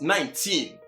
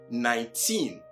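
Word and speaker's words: nineteen: 2019, as already explained, is also not pronounced 19, as commonly heard among Ghanaians and many Africans, I want to believe. But what? 19, with emphasis in pronunciation placed on the last syllable, teen, instead of the 9.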